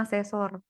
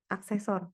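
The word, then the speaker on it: accessor: yang namanya mutator, Kis, sama asesor. aksesor. Gimana sih bacanya? Aksesor ya, Kis?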